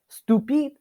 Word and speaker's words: stupide: Stupide, on the other hand, doesn't have a masculine case. It's in both feminine and masculine nouns. When it's referring to either of those, it's always stupide. You always pronounce the D at the end.